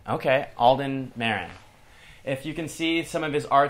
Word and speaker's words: Marin: Sometimes pronounced Marin, but it's actually Marin. Okay, Alden Marin.